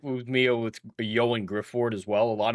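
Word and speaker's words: Ioan: It's pronounced Yoan.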